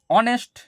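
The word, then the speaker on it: honest: এইচ এর সাউন্ডটা silent থাকে।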